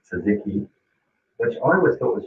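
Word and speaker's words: tzatziki: just beyond belief and uh pronounced correctly sazeki which i always thought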